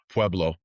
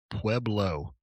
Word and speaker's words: Pueblo: Pueb- Pueblo. Pueblo. Pueblo. Yes. Say that real real real slow for Mike. Did you hear that, Mike? Yeah. Stop Diablo. It's Stop Pueblo or yeah, it's Pueblo.